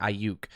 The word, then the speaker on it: Aiyuk: It's Aiyuk for our street fighter fans. Aiyuk, kid, right? Like you can get it that way, but it's pronounced I, like the eyeball, and Yuk, Y-O-O-K, Aiyuk.